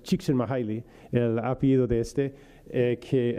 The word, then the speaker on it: Csikszentmihalyi: Se pronuncia más o menos Csikszentmihalyi, el apellido de este,